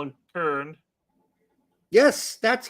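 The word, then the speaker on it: Köln: Just like there's no L in Kern.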